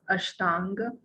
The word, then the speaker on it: Ashtanga: It is pronounced as Ashtanga Yoga.